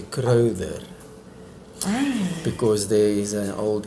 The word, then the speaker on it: Crowther: come from, we just say Crowther. Crowther? Yeah. Really? Yeah. I thought it was a fancy TH. Like, No, but when I get fancy, I say Crowther.